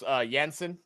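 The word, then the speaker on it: Jansen: we'll go out the boundary for four I pronounce yansen yansen thank you Adrian uh s said Frank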